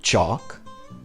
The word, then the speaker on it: chalk: vocabulary from unit 1 the first chant practices the olive sock ah sound olive sock ah the words are chalk chalk board and hot